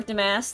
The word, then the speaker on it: Demasque: It was stolen by this, what I could only describe as some sort of Power Rangers villain called Demasque. The star is not pronounced, it's an emoji.